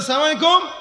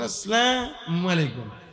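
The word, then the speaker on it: السلام عليكم: আমি বলবো ওয়ালাইকুম তুই মর কেউ যদি বলে সালাম আলাইকুম আপনি বলবেন তুই মর ওয়ালাইকুম আর যদি বলে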